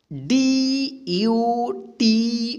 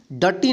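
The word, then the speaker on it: duty: तो देखिए यहाँ पे एग्जाम्पल में, ठीक है, डी यू टी वाई, इसको क्या पढ़ेंगे ड्यूटी। ठीक, डटी नहीं पढ़ेंगे इसको, क्या पढ़ेंगे ड्यूटी।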